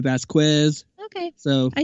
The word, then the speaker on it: Vasquez: Well, there's 2 ways. You said it different than I said it. The actual Vasquez. Hispanic way of saying it is Vasquez, but I'm used to Vasquez.